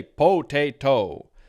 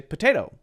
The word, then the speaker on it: potato: interesting are happening here we change this T to a light D sound so instead of potato